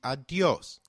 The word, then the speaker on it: Adiós: Did you notice the accent on the ó in ¡Adiós! If a word is marked with an accent, then that syllable receives the stress An informal alternative to ¡Adiós!